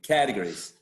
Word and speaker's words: categories: think about this word remember the animal cat the cat right so you say categories why why the cat yeah why the cat because a category is basically uh a k a trap and a at the beginning right yeah just like the animal cat so category that's a very good clue yeah and many people